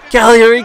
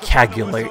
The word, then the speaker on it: Cagliari: either, but it's not Cagliari. It's not Cagliari, so please stop saying that. It hurts my ears. It's at least say the GL is silent in Italian.